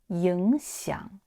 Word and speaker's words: 影响: 记录言行在理影响 Ying is a third tone and xiang is also a third tone. So here you have to pronounce ying into second tone. Again, 影响影响 often will be